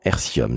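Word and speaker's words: Airthium: Julien et de Bertrand hercium ça s'écrit a i r T H i u m et vousz all me dire que c'est un petit peu comme l'air et le lithium formidable je retiens que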